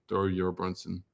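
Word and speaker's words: Thorbjørn: all their names and they just say it like there's no J so thoron thornson that's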